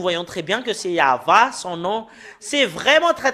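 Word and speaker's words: יהוה: l'an 2000 nous voyons très bien que c'est yava son nom c'est vraiment très très clair le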